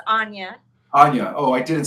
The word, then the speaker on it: Onya: It's Anya.